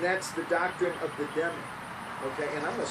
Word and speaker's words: Dhimmi: And that's the doctrine of the Demi, okay? And I'm going to spell that because I'm not sure I'm pronouncing that right. It's Dhimmi.